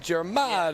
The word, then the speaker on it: Germanotta: And we're just talking about different emphasis of syllables. So that's Germanotta.